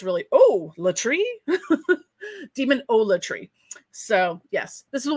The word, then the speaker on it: Demonolatry: I just realized I've been pronouncing demonolatry as olatry, but it's really latry. Demonolatry.